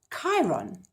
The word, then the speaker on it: Chiron: not it actually is Chiron did you know that CH the third way of saying CH is a curse sound like character or chemicals so know what I